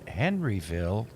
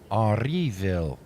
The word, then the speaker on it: Henryville: Henryville is, it's not, you can say, I just anglicized it, but it's spelled Henryville, which Henri is Henri, and then Ville.